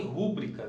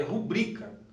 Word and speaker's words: rubrica: A palavra, por exemplo, ó, aqui tem rúbrica. Na verdade não existe rúbrica, é rubrica. Correto é rubrica, tá?